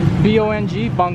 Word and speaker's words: Bongbong: of the day is it boom boom or bong bong what is it again how do you spell it b-o-n-g bong bong i always thought it